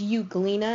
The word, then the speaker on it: Euglena: a flagellum this is euglena and you clean is spelled with an e so it's Eug le na this is an LG